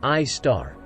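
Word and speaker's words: Sagittarius A*: The Milky Way hosts its own supermassive black hole at its center known as Sagittarius A, pronounced I star, that is more than 4 million times as massive as our Sun.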